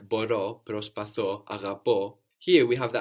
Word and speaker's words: αγαπώ: We could have αγαπώ or αγαπάω, I love, also with the accent on the end.